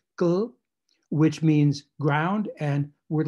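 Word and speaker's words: kll: So you can have a word like K-L-L, gl, there's no vowel there, gl, which means ground, and word like T-R-R, tr, which means day.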